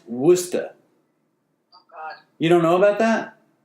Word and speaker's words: Worcester: know about that it's it's spelled like were Chester but it's pronounced Worcester you don't know about